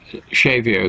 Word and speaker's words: Xavier: is chico xavier uh shavio spelt with an x xav chico is it